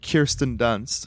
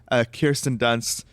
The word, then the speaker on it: Kirsten Dunst: And Kirsten Dunst, which is how you have to pronounce her name, Kirsten Dunst, like, photographs this war,